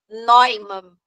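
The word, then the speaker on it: Neumann: você mas vamos lá incisão de noiman tá e se escreve em uma mas é alemão tá incisão de Norma então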